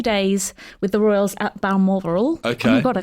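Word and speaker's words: Balmoral: with the Royals at Bal moral okay oh my God I can't even say it I should have practiced this B moral that is how you have to pronounce it when you're announce moral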